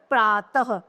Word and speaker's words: प्रातः: जैसे जब हम इसका प्रयोग करेंगे तो इसके उच्चारण में ह का उच्चारण किया जाता है। जैसे प्रातः, त के पीछे हमने इसका प्रयोग किया तो क्या हो गया? प्रातः।